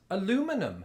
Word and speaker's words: aluminum: I pronounce this aluminum because it's spelled aluminum.